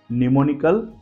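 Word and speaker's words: mnemonic: पांचों शब्दों को देखिए अब ध्यान से शरुआत है एमएन लेकिन हमने एम को प्रोनंसिएशन नहीं किया है एम को हमने साइलेंट रखा है एक बार फिर से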